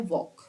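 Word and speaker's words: walk: park to relax देखिए इसको बोलते हैं वॉक साउंड क्या है एल साइलेंट होता है वॉक वक ठीक है आई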